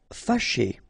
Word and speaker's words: fâché: Fâché. Okay, so remember that here, even if you've got this accent circonflexe on the top of A, well, technically it doesn't really change the pronunciation.